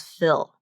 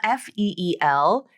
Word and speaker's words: feel: So here I've crossed out the E and I put the short I sound and I wrote it phonetically as fill. So this is common, okay? Feel, F-E-E-L. You know, the full pronunciation is the long E vowel, the long E sound, the tense sound. Feel. When you put the short I sound in there, you get a new word.